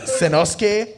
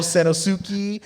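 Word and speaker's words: Sanosuke: like bachusai or there's the character uh senosuke they call senosuki or the character they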